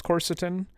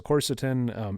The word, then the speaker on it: quercetin: it um the next one i believe it's quercetin is how it's pronounced it's spelled q-u-e-r-c-e-t-i-n um excuse me so